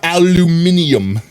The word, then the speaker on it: aluminium: It's not aluminium. There's no extra I. There's no extra I. Min-eum. It would have to be an extra I. It would have to be spelt that way to be aluminium.